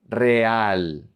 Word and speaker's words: real: And then when the single R is at the beginning of a word, it's pronounced like a double R. You roll the R. Real, real, real.